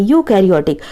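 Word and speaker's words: eukaryotic: यूकैरियोटिक, इसका pronunciation कैसा रहा, यू, ई यहाँ पर साइलेंट है, यूकैरियोटिक।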